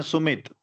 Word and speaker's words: Sumith: name is Sumit, so they are writing as SUMITH, but वो बोलते हैं सुमित, त लिखते हैं TH.